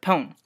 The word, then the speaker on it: pwn: They say pwn. P-W-N. Not O-W-N, but pwn. And they pronounce it as pwn and not pawn.